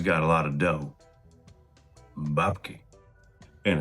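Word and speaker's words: бабки: Babki. And it's very important to put the stressed syllable on the first vowel sound. Babki.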